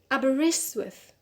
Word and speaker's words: Aberystwyth: is uh number five are the wrists with aberystwyth the same thing for here for this word so we have the three of the primary stresses on wrist so we need another degree of stress which is on the first syllable so we add the